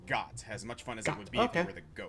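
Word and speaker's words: Goht: And ooh, yes, the wiki says it's pronounced Gott, as much fun as Gott it would be if you were the goat.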